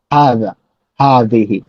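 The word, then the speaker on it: هذه: হ্যাঁ, এই যে জিহ্বার আগালটা, এই জিহ্বার আগালটা উপরের পাটির দাঁতের সাথে এই জায়গাতে লেগে ঠিক এই জায়গাটা থেকে উচ্চারণ হবে জাল, জাল, হাযা, হাযিহি।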